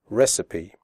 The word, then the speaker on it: recipe: the word recipe correctly the ending CI PE is pronounced CP recipe okay so let's get